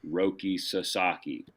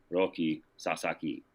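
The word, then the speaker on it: Roki Sasaki: Like I know it's roi sasaki but in Japanese it's roi sasaki because the like in western you know for us in English there's you know extra emphasis on the second syllable right like that's why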